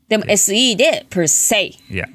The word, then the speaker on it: per se: space say is s per se is that the same as like i say you say pronounce the same pronunciation okay um and the